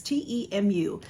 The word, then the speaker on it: Temu: try it out I got some stuff from temu so that is how you pronounce it now this label um covers it but there it is t-e-m-u it is pronounced temu and I have a giant bag